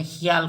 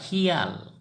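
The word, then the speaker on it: শিয়াল: सियार, सियार जो होता है, सियार को असमिया में हियाल कहेंगे। सियाल लिखते टाइम में हम सियाल लिखेंगे, लेकिन उच्चारण होगा हियाल, हियाल।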